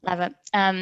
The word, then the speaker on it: Lever: Lever, never know how to pronounce it, sorry. Lever. Rhymes with Trevor.